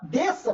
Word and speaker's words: desça: Então, a palavra desça, por exemplo, apesar de serem duas consoantes na mesma sílaba, ou na mesma palavra, isso não é encontro consonantal, isso é dígrafo. Eu tenho duas letras com um fonema.